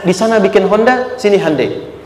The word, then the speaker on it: Hyundai: sana bikin Honda sini Handeai. Hyundai kan dibacanya Hande ya kan sana Honda sini Hai gitu.